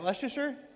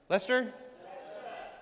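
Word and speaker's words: Leicester: How do you say? Is that Leasher? Lester. Lester.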